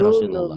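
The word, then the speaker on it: رسول الله: Lafaz Allah dibaca tebel kalau sebelumnya baris atas tuh domah ya. Ya. Rasulullah tuh ya dibacanya Rasulullah.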